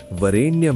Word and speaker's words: वरेण्यम: तत्सवितुर्वरेण्यम में सवितुर में वी पर जोर, वरेण्यम में रे पर उद्दात।